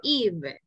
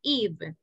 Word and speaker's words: eve: New Year's, esta palabrita se pronuncia Eve. Repeat, guys, Eve.